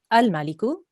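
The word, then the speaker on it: الملك: Make sure we can hear the lam sound. Okay, so often when we say things quickly, especially if it's words that we know, we don't pronounce all the letters very clearly. So we need to be able to hear the al-Maliku.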